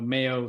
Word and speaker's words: MEO: I know Mayo sounds to people who've never heard it before, like Mayo, like mayonnaise.